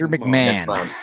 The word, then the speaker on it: McMahon: is roughly uh 40 minutes Mr is it pronounced Mr mcmah is it mcmah Mr McMahon mcmah McMahon that's right mcmah thank yeah imagine